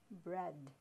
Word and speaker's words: bread: E-A is now pronounced as eh, bread.